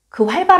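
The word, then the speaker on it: 활발: 여기 서 주의 해야 할 점 은 "Bal" 발음 이 "Pa" 로 발음 되지 않는다는 것 입니다 .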